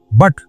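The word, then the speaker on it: but: टी पुट पढ़ा जाएगा और बी यू टी पुट पढ़ा जाना चाहिए ना लेकिन पढ़ा क्या जाएगा बट अब कोई कहे ये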